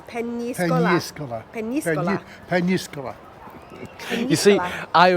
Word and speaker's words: Peñíscola: It's an N, not an N, and it's got an accent on the I after the N, so it's Peñíscola.